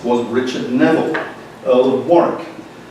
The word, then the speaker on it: Warwick: of these barons was Richard Neville, Earl of Warwick, not Warwick, you Americans. That's how we can tell you're Americans when you come over to England, because you say, I'd like to go to Warwick, please. It's Warwick.